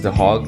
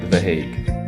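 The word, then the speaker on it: Den Haag: tour guide the heg I've been pronouncing it as the hog the entire trip but apparently it's called the hag the hog is far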